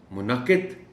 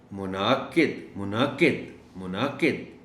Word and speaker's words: منعقد: کہہ دیا جاتا ہے۔ اب اگر آپ اس کو منعقد کہیں گے تو اس کا مطلب یہ ہوگا کہ آپ نے نون پر زبر ڈال دی اور عین کو بالکل کھا گئے۔ اردو تلفظ میں کوشش یہی کرنی چاہیے کہ ہر حرف کا پتہ چلے کہ یہ بولا جا رہا ہے۔ منعقد، منعقد، منعقد۔ عمر، یہ میں نے